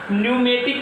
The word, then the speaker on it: pneumatic: हवा से संबंधित को क्या कहते हैं बच्चों, न्यूमेटिक कहते हैं। लेकिन स्पेलिंग देखिए कैसे स्टार्ट होता है, स्पेलिंग P से स्टार्ट होगा, PNEUMATIC।